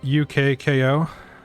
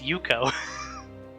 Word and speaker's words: Ukko: Gildan's saying it's pronounced UKKO. So, I have to say that every time now. It's way too many syllables, I can't do that. No, Rocker's saying it's Ukko. Ukko like Coke.